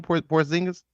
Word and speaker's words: Porzingis: Porzingis.